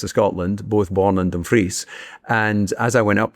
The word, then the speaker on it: Dumfries: So, if you read it like the Americans do, they would read it as dumb fries but it's actually Dumfries.